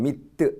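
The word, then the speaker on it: mythe: 프랑스어로는 미트 이렇게 발음합니다.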